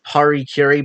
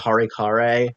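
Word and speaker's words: harakiri: the term is Harikiri, but for some reason Colbert pronounces it Harikare.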